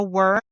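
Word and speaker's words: wyrm: For others, it might be slaying a worm, which is spelled W Y RM the exact same way that it is spelled in Acitar by killing a worm or a demon.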